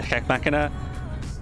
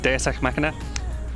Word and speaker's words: deus ex machina: people seems like they're heck machina I pronounced that really weird tonight deus ex machina um seems like you